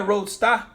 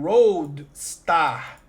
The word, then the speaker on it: Roadstar: Seria Roadstar? Pode ser Roadstar também. A pronúncia é a mesma do nome do Road, entendeu? Rodo.